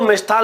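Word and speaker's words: मिष्ठान्न: पूछ लिया जाता है हम लिख देते हैं मिष्ठान यह जो मिष्ठान लिखते हैं ये गलत होता है इसका जो शुद्ध रूप होता है व क्या होता है मिष्ठान होता है तो हम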